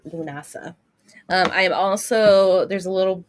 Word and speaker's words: Lughnasadh: it's here hold on lunasa lunasa lunasa don't don't worry about the D and the H at the very end of it it is Celtic and Irish spelling so it's lunasa I'm also there's a